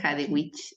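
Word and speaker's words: Hadewijch: Y cuando buscaba la pronunciación de su nombre, decían de que es Hadewech, pero bueno, eh, se lee Hadewich de Amberes.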